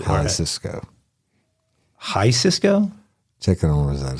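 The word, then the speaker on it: Jalisco: said it wrong twice Well it can't be Hal Cisco because there's no C Cisco High Cisco check it on that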